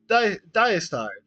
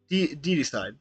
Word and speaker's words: Deicide: Diocide. Diocide. So the kill gods means diocide. Deicide.